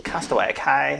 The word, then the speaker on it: Castaway Cay: Castaway Cay, that's how you say it.